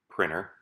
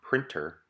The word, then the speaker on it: printer: As I read them, notice how I just glide over the letter T in my pronunciation. Interview, enter, printer, winner.